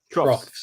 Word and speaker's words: troughs: I'm not sure how to pronounce it. Troughs, yeah. Troughs.